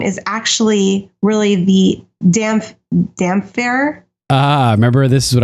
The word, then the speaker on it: Damphair: The damp hair. The damp hair, yeah. Yeah, because Roy Dotrice did that in the books. He would say Damphair because of the way it's spelled.